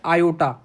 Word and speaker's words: iota: और ये आई क्या है, आई को हम लोग कहते हैं स्टूडेंट्स आयोटा, IOTA प्रोनाउंसिएशन है आयोटा, आयोटा कहते हैं आई को, I stand for आयोटा, आयोटा बोलेंगे आई को।